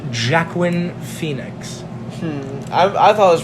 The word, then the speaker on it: Joaquin: the famed classic hit gamer mecca Joker starring Joaquin Phoenix club direct segment it's actually pronounced Jack win Phoenix I've always pronounced working walk him okay but it was also directed by Todd